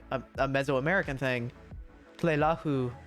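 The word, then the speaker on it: Tleilaxu: an allusion to the Tlelahu. Listen, I like to pronounce Tlelahu like that. But I remember reading like or listening to an audiobook and they say Tlelaxu, and I hate that.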